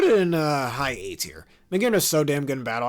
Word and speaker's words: Magearna: I hate when people pronounce it like that. Magearna.